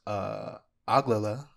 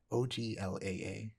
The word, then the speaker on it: Oglala: Charlie Ramsey, a non-binary member of the, let me try to pronounce this, Oglala. Oh, let me try one more time. I'm certain that was wrong. Let me read it. Oglaa, Oglala, band of the Lakota Nation, a Native American tribe.